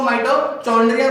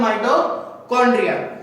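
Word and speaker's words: mitochondria: तो कुछ लोग इसको माइटोकॉन्ड्रिया बोलते हैं और कुछ लोग इसको माइटोचॉन्ड्रिया बोलते हैं। तो स्टूडेंट इसकी जो सही प्रोनाउंसिएशन होती है वो होती है माइटोकॉन्ड्रिया।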